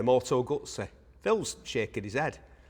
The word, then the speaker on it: Moto Guzzi: Moto Guzzi, I've been encouraged to say by you lot. I'm going to try it. There's no T in it, but I'm going to try it anyway. Moto Guzzi.